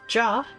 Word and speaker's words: J: The J tribe, pronounced Jah, stands for the Jackal, and they make their home in the town of Ala Ghiri in the Peaks, Gyr Abania.